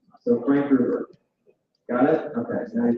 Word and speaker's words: Gruber: Okay, Frank Gruber rhymes with Uber. So Frank Gruber.